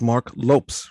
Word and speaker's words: Marc Lopes: It's Marc Lopes, right? Yes.